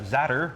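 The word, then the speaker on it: za'atar: For the zatter, rhymes with platter, that's how I remember that.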